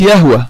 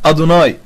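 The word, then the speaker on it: יהוה: رقم اربعه ودي الاخطر ان هي ما بتتنطقش يهوى حي الله عم زيرو ما بتتنطقش يهوى دي بتتنطق اصلا عند اليهود ادوناي لما اليهود بيشوفوا كلمه يهوى مكتوبه في المخطوطات اللي هي ي ه و ه بيقراوها ادوناي ما بيقراوهاش يهو وهذا الكلام هجيب طبعا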